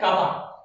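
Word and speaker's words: κ: Symbol बोलते हैं, और इसका प्रोनाउंसिएशन क्या है, कापा।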